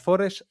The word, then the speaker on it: Forrest: Mientras Forest Forest es que siempre me sale más Forest que Forest. Bueno, es la pronunciación inglesa, como forest.